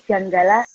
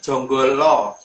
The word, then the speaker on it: Janggala: utusan sudah keluar dari Janggala Nagari. Lebih tepatnya Jonggolo. Jadi Jonggolo. Jadi dari dalam penulisan Janggala itu huruf A itu kalau orang Jawa bacanya O.